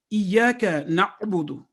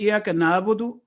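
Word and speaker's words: إِيَّاكَ نَعْبُدُ: Similarly, in Surah Al-Fatiha, Iyaka na'budu. If we say Iyaka na'budu, we are not pronouncing ayn as its due right.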